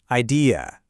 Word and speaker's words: idea: In the UK, you'll often hear it with a softer ending, that ear sound, idea. But over in the US, that last syllable gets a little sharper, more of an e sound.